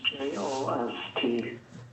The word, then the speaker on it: Jost: last name j-u-l-s-t no it's j-o-s-t just j-o-s-t and you say it like jost that is correct oh i was saying